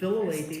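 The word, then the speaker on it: Philalethes: all, tell people what Philolaethes is and how to pronounce it. Philolaethes, the It's Philolaethes.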